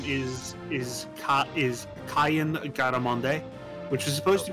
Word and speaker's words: Cyan: name uh cyan's name is is cot is cayenne garamonde which is supposed to be cayenne like the pepper but it was terrible as it said his name is pronounced cayenne which means sea swallow is a typical samurai